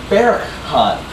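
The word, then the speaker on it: berghaan: It's actually not Berghahn. It's actually Berghahn. So everybody say that. Berghahn. Yeah, so it's like a weird sort of H sound. But it's spelled with a G.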